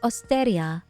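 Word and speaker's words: オーストリア: dosu was definitely understood if you say Austria they think Australia you have to say austeria oh yeah you have to definitely pronounce it like you're not trying to say the original word a Japanese guy asked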